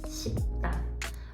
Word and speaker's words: 싶다: C'est blabla, go, 싶다, 싶다. Ça s'écrit comme si avec un P, mais ça se prononce comme un B.